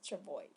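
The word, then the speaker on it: travois: chavoi by the way s is not pronounced in this word so we read the word as travoy it is a kind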